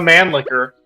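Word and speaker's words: Mannlicher: funny name in English it would be pronounced the man licker the man licker named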